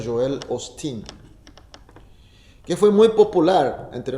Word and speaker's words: Joel Osteen: Y se pronuncia Joel Osteen, que fue muy popular entre nosotros.